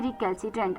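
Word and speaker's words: recalcitrant: सी आई आई टी आर ए एन टी रिकल्सिटेंट आर ई सी ए एल सी आई टी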